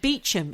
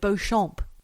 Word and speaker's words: Beauchamp: And Beecham instead of Beauchamp.